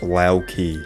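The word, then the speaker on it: Loki: Locky's name is pronounced Laoki.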